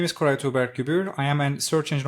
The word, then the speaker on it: Koray Tuğberk Gübür: Koray Tuğberk Gübür or Koray.